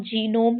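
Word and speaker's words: genome: यहां पे जी साइलेंट नहीं होगा। इसको हम जीनोम ही पढ़ते हैं।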